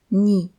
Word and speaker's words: не: Cette particule ni ne porte pas d'accent et se prononce donc ni et elle se colle toujours au mois suivant.